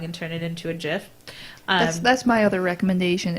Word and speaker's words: GIF: thing if you want to believe that it's pronounced gif it's the same as believing the earth is flat there is all of the evidence that tells you it's jiff but you refuse to believe it and that's